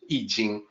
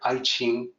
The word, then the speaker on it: I Ching: And the Wade-Giles romanization system specifies that to represent the sound yi, you must use the letter I. So the original romanization was actually meant to represent the correct sound, yi jing, but people don't know that, and that's why we hear I ching.